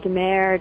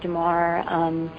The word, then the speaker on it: De Mare: People pronounce it Demare, Demar. It's actually pronounced Demar, but Demare.